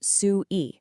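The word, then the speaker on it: 隨意: Well, it's captured in this beautiful two-character term, pronounced su-i.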